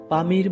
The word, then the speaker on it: Pamir: সবচেয়ে উঁচু ভূমির নাম পামির মালভূমি স্থানীয় ভাষায় এর উচ্চারণ হচ্ছে পমির যার অর্থ হচ্ছে সূর্যের